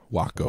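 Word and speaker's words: Wahcko: It's spelled W-A-H-C-K-O. Waco. What? Like wacko, Yeah. but they flip the H and A.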